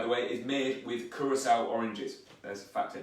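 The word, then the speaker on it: Curaçao: sec turned blue and it's not pronounced karako or any other thing if the c has a little hook underneath it it says sound so it's curacao and then you've got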